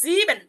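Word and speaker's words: sieben: সেহার উচ্চারণটা ক সেহা এস কত একটা উচ্চারণ আসতেছে একটা সেক্স আচ্ছা এরপর হচ্ছে সেভেন যেটা সেভেন কে বলা হয় জিবেন জিন এই দেখেন ই এবং এ আছে যার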